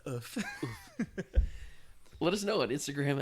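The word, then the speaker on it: œuf: Do you know that's how you say the French word for egg? No way. Yeah, it's pronounced oof.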